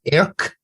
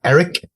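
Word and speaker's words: Airk: I also found I had the captions on, and I realized his name is Erk, not Eric. It's A-I-R-K. Well, it's spelled Eric, but it's Eric.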